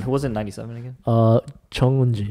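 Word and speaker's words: Jeong Eun-ji: Chung-un-ji. Chung-ji-un. Oh, Chung-ji. No. Chung-un-ji. I said it right. Yeah, Chung-un-ji.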